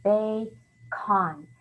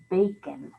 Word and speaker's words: bacon: as a long syllable bae khan baekhon well that's not the word is it bacon that's not how we say it we say it with the schwa sound bacon uh bacon we don't